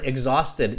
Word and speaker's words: exhausted: Egg, like an egg, like the food egg.